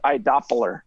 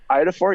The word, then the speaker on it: iodophor: And he called it iDoppler for some reason. Idoffer. iDoppler. He didn't know how to pronounce it. Every time I say iodophore, you got some iodophore?